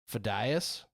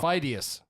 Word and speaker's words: Pheidias: but his last name, there's been some controversy about how you pronounce his last name. I'm going to guess Pheidias. That sounds right, but only because you just said Wrong. Oh. Pheidias.